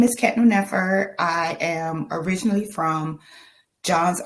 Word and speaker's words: Khetnu Nefer: It's Khetnu Nefer.